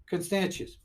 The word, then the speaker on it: Constantius: to my son I'm like how are you pronounce anything constantius thank you he's like a world history buff